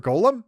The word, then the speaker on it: golem: Also, it's inconsistent as to whether or not people pronounce it golem or golem, which ordinarily I wouldn't care about. Those are two completely valid pronunciations of the word.